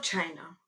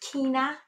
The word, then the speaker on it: China: I love China. China 200. Some people pronounce it Kina, but I mean, let's not be esoteric, okay?